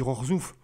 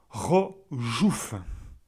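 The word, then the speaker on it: Rzeszów: En fait, je ne sais pas si le CH, il faut le prononcer à la française ou s'il faut le prononcer à la polonaise. Donc, si c'est à la polonaise, ça ferait... j'ai dit Rorzouf. Non, c'est Rojouf.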